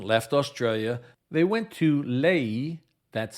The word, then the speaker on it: Lae: When Earhart and Noonan left Australia, they went to Lae, that's spelled L-A-E, in Papua New Guinea.